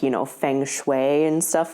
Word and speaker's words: feng shui: To know feng shui.